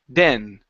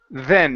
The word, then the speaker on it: then: So here, you're pronouncing a D saying den. Instead of den smiled, it's then. Make sure your tongue is between your teeth.